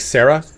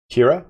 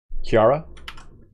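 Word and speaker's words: Ciara: A in Irish again is it like Sarah it's not Sara Kira that's how it is Kiara um let me see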